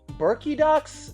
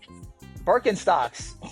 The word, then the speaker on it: Birkenstocks: Next, we have the Arizona Burkidox. Birkinox. I don't know how to say it. Birkenstocks. Birkenstocks, my brother.